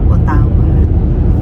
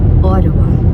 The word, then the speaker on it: Ottawa: Nauna na kami today to see Nung una kaming dumating dito sa Canada, ang tawag namin sa Ottawa ay Otawa. But they corrected us is pronounced as Ottawa.